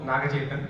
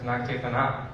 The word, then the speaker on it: Nagachetan: Yeah, Navang, and my name also Nagachetan. So I think the announcer told earlier as Nagachetana, so it's okay.